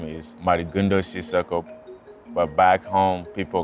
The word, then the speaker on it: Mady Sissoko: The way you pronounce my name is Mady Sissoko, but back home, people call me Madiganda.